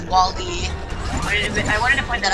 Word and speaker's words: WALL-E: It's kind of like how it's Wall-E. I wanted to point that out there because I had people mispronunciate them a couple times, and they thought